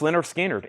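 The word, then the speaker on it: Lynyrd Skynyrd: for Presley we have o pronounce Leonard skinnard ex condition $29.99 pronounced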